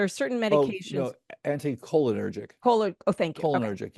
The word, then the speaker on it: anticholinergic: Anti-chlorogenic drugs, medications. Is that the pronunciation of it? Like there are certain Oh, medications. no, anticholinergic.